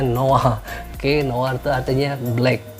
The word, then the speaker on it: noir: Terus ada juga noir itu dibacanya noir.